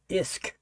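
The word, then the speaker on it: Usk: That U is pronounced I. So, it's Isk.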